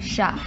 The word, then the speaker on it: chat: It's spelled like chat, okay. But it's pronounced but chat. The T is silent, because exactly. That's how French is. Yeah. It's like, all the T's are silent in that language.